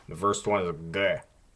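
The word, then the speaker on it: Г: The first one is a G. G. It's a gamma. It's a G sound. However, it does change to a K sound if it's at the end of a word or syllable, which I didn't really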